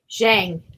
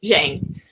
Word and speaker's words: Zhang: go ahead and give out the password it's zhang i'm not saying it right but it's jang z-h-a-n-g so that's the secret password that is